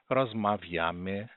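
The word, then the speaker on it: rozmawiamy: Rosmaviame, rosmaviata, rosmaviaion. Então, lembrando que todas as palavras polonesas são paroxítonas. Ou seja, a segunda sílaba, sempre a segunda sílaba, ela é a sílaba tônica.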